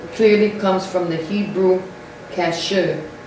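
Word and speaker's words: kasher: the word culture clearly comes from the hebrew cashew spell it k-a-s-h-e-r so now we saw that that's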